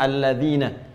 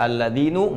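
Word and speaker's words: الَّذِينَ: Karena itu dibacanya alladzina. Kita tidak baca alladzinu enggak ada alladzini selalu na mabni tetap dalam harakat ini.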